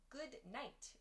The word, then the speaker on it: good night: Yeah, good night. We sometimes say good night. Good night. So that ud in good is dropped. We remove that ud sound and we say good night, good night.